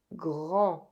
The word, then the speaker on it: grand: The final D is silent, and AN is a nasal vowel. The tip of the tongue doesn’t go up to pronounce the N. Grand Tall, big, large Décembre